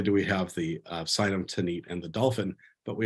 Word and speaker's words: Tanit: with The Phoenician goddess tanit the goddess tanit likely pronounced tinit or a thanit something like that in Antiquity was the